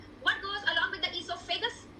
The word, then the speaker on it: esophagus: What goes along with the esophagus? Esophagus is rhyming with vagus.